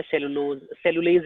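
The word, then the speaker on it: cellulase: Herbivore है सेलुलेज enzyme, ठीक है. Which enzyme I am pronouncing? सेलुलेज, ठीक है.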